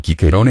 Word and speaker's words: Cicero: a propósito del jere el nombre de cicerón cicerón en pronunciado quiquerón en latín clásico tuvo suertes diversas en